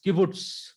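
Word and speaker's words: קִבּוּץ: So it gives the pronunciation Okla. Then we have learned is kibbutz.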